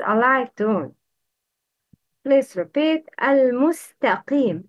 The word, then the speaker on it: المستقيم: Al-mustaqim. It's al-musta. Not. It's not. Al-musta. Al-mustaqim. Wrong.